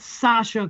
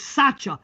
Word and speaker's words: Sacha: okay good now you his name is not sasha cone baron or whatever the hell it's called it's sacha s-a-c-h-a if you would have pronounced it correct we never would have